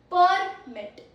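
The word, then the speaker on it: permit: सी the difference in same spelling but प्रोनन्सिएशन and meaning are different. First first is पीआर एमआई T. First प्रोनंसिएशन इज़ परमिट।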